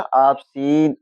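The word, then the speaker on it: obscene: देखो इसमें क्या है इसमें देखो एससी आ रहा है इसके बाद में इ आ रहा है तो क्या हो जाएगा ऑसीन ऑसीन माने क्या होता है?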